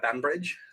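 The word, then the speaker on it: Banbridge: up just outside Belfast okay what town uh bambridge bambridge yeah how do you spell that b-a-n and then Bridge band Bridge um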